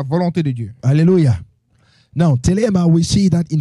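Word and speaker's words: Thelema: So in the Greek, Alors, dans le grec, the word for will of God is telema. le mot pour la volonté de Dieu, c'est dilemme. Telema. I will spell it.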